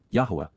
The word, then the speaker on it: Yahweh: hand minad of Yahweh Yahweh the proper pronunciation of the name of eloah God as directed in his Torah teaching regarding his higher existence